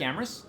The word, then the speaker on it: Amis: here uh I'm Eric Amis and Amis rhymes with glamorous if you're uh concerned